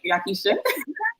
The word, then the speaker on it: YaKeecha: Did I pronounce that right, YaKeecha?